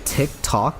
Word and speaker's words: TikTok: People here say TikTok, but with a harder sound, with a harder short O.